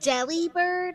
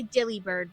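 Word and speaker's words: Delibird: Is it deli bird? I always say dilly bird, but I I have a feeling that's wrong. But I mean, I say deli because that's the way it's spelled. Yeah, that's why I was like I I see that it says deli, but I always wind up saying dilly.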